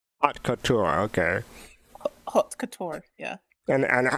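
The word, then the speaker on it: haute couture: J Watch how do you say it again hot Couture hot Couture okay Couture yeah and and how many submissions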